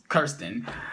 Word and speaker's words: Kirsten: I know it's not Kristen, it's Kirsten.